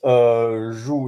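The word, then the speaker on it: joug: y the y o k e which is zu in French but it's not like the the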